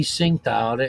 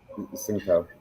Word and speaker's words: Tsingtao: Last week I had the Tea Tsingtao. Actually, it's pronounced Shangtao, Singtao.